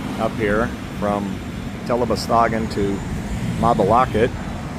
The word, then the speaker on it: Mabalacat: All right, so it was a long trip up here from Telosagen to Mabalocket. Mabalocket, not Mabalakad or anything else.